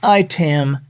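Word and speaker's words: IAITAM: barb actually started IAI ta m dot org now we pronounce it item dot org but these people are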